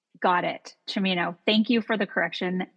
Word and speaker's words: Cimino: I should note though that my last name is pronounced Cimino, like Al Pacino. Got it. Cimino.